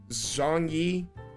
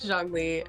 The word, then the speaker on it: Zhongli: and you can literally correct me on the pronunciations. Okay. Diluc, Zhongyi, and Kaya. Okay. Diluc, Zhongli, and Kaya.